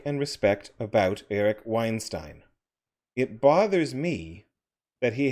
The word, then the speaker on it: Weinstein: that i like and respect about eric weinstein it bothers me that he has some of